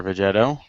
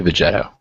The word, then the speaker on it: Vegetto: me um hey everybody this is veg or vegetto Ron horribly butchered my name in that little thing he did V he said Vegeta he did say vet no he's anyway yeah